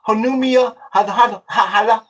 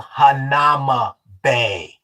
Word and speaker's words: Hanauma Bay: Yeah, we want to go to Hanumia. It's called Hanauma Bay.